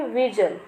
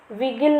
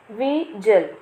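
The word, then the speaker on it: vigil: इसे प्रोनाउंस करेंगे विजिल। विगिल नहीं पढ़ना इसे, विजिल।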